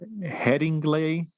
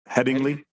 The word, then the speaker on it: Headingley: September uh from The Heading glay heading glay did I say it right Mike headingley headingly I'm sorry I totally botched that uh for the heading